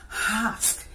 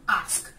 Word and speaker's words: ask: Alright, what's the accurate way of pronouncing this word? It's very simple. You have longness form ah, is that this word? So when you add that to consonant close to sk, it gives you ask.